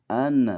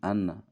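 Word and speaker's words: أنّ: Haitsu anna, nah di sini kebalikan dari kana dan anna. Ini anna, nggak boleh an, bacanya anna.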